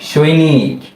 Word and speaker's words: সৈনিক: দন্ত স ঐকার সই, দন্ত ন রস্যিকার নি, সৈনি। এরপর যদি আমরা একটা ক লিখে দিই, তাহলেই হয়ে যাচ্ছে কি? সৈনিক।